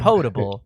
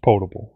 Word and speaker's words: potable: like possible yeah right potable because i heard it on the radio reads as portable right but it's pronounced potable exactly so all of